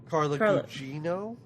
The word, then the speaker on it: Carla Gugino: Carla Gugino.